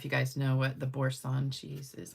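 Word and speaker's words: Boursin: So, I don't know if you guys know what the borson cheese is. I guess that's how you say it's B O U R S I N.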